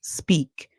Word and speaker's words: speak: The E makes the sound E, a long song, and the A is silent. Then we hear the K sound. So the word is sp, E, K, speak.